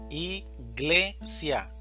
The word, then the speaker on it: iglesia: Tenemos la palabra iglesia, iglesia. La mayor fuerza de voz está en gle, iglesia.